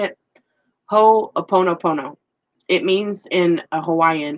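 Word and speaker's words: Hoʻoponopono: Ho'oponopono.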